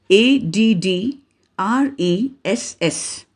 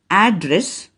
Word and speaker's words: address: two pronunciations we'll go to the next example a d d r e s s here the american pronunciation is address british pronunciation is address so now you repeat